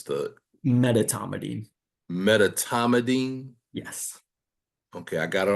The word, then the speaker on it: medetomidine: How do you pronounce the Medetomidine. Medetomidine?